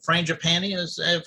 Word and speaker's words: Frangipani: It's called Frangipani. Am I pronouncing that correctly?